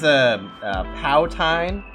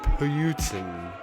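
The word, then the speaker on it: poutine: Now this one's Powtine, I believe it's pronounced. Oh, this is a Canadian delicacy. It's actually pronounced Putin. Oh, okay. You guys have yet to perfect your French accents. It's actually a Powton.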